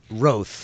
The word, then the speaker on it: Rothe: Is that how it's pronounced, Rich? The beasts of burden that are raised in the area. What's the Roth?